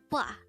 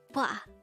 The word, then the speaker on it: 봐: And if you notice, the wa sound is formed from the combination of the O and A sound. So that's BWA. And I hear a lot of Koreans pronounce this as ba instead of BWA.